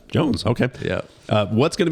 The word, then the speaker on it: Joens: walked up to Carson I think it's Jones Jones they're gonna misspell my name they're gonna miss you mispronounce it until you look at it oh yeah it's just Jones okay yeah uh what's